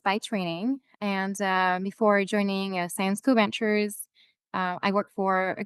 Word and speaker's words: Syensqo: And we have a really strong focus on science, hence the name Syensqo, in case you're wondering how to pronounce it.